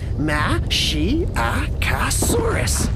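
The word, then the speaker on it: Masiakasaurus: I'm Mashiachosaurus. You say it like this, Ma-shi-a-ca-saurus.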